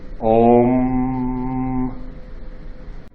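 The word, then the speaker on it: ॐ: Literally, those are Sanskrit letters which say Om. What is it? The sacred syllable.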